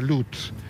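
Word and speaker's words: Lutsk: Esto está ocurriendo en una esquina de la localidad de Lusk, que se pronuncia Lutz.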